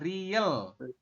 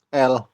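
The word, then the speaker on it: ㄹ: teman-teman Ini namanya adalah R kalau R berarti gimana penjelasannya di awal berbunyi R di R di akhir berbunyi l l betul cuman untuk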